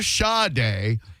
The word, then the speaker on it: Sade: The singer Sade's name is uh generally pronounced Shar-day or Sha-day. It is a Yoruba name, as in Yoruba my